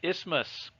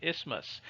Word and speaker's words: isthmus: And the piece in the middle that's holding them together is called an isthmus. The TH is silent. It's called an isthmus.